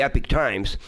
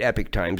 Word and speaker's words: Epoch Times: It's spelled EPOCH, the Epoch Times. Epoch Times? Yeah, Epoch, yeah, but Epic Times they call it. For some, I guess it's pronounced that way.